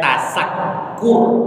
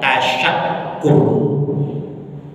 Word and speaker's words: tasyakur: Bukan tasakkur, tapi tasyakur.